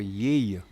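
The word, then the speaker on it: Yaye: Well, I said the name is called, the DJAB was called before Yay. Only Yay. I spell it like Y-A-Y-E.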